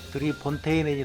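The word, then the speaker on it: Drie Fonteinen: 드릴까 합니다 아 이게 그 뭐 벨기에 맥주인데요 드리 폰테인이 그래서 조금 발음하기 어려워서 어 우리나라에서는 그냥 3분수이 3자 써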